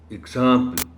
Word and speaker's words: example: next word honorable teacher is example example this is wrong the correct pronunciation of the word is example or eggs sound here example humility is humility